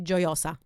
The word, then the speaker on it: Gioiosa: I saying that right the pronunciation is actually joy Elsa joy Elsa yeah so it's full